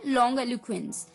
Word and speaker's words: longiloquence: लॉन्ग एलिक्वेंस, लॉन्ग एलुकेंस। जी हाँ दोस्तों, ये पूरा एक लंबा वर्ड है, लॉन्ग एलिक्वेंस। LONGILOQUENCE, लॉन्ग एलुक्वेंस, लॉन्ग एलुक्वेंस। इसकी प्रोनाउंसिएशन है लॉन्ग एलुक्वेंस, LONGILOQUENCE, लॉन्ग एलुक्वेंस।